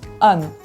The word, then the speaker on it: Anne: Par exemple, le mot âne, dans le mot Anne, il y a les lettres A-N qui se suivent, mais après ces lettres-là, on trouve une voyelle. Donc on ne prononce pas en E, on prononce Anne.